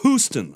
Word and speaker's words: Huston: I always used to pronounce it Angelica Houston. Houston, but it's Houston.